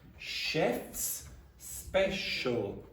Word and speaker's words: chef's special: special now you see in this inside this there's a hidden sh so it's here yes there are many s and Sh in the same place so it's chefs special repeat chefs special